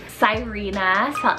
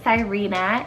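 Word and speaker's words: Sirena: beautiful and it's derived from the word cove cyrena s-i-r-e-n-a cyrena it's greek rooted meaning entangler kind of sounds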